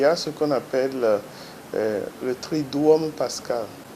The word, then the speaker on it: Triduum: Dans la Semaine Sainte, il y a ce qu'on appelle le Triduum Pascal. Attention, beaucoup disent Tridium. Non, ce n'est pas dium, c'est duum. C'est deux U qu'on prononce en latin ou.